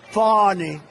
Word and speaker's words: Fani: It's spelled Fanny like your ass, right, Fanny? But when she became DA, she decided to add a little French, a little fancy. Fani.